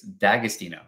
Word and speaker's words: D'Agostino: those viewers at home do not ignore the apostrophes D'Agostino right yeah yep that's